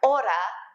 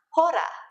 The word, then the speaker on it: hora: Remember that you don't pronounce the H's when they come at the beginning of a word, like hola is hola and not hola, just like hora is not hora.